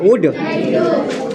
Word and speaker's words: would: वुड। L silent है।